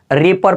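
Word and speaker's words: reaper: पहले आया हुआ है डब्लू तो डब्लू का उच्चारण बिल्कुल नहीं करेंगे तो इसको क्या पढ़ते हैं रीपर पढ़ते हैं याद रखिएगा यहां पर भी है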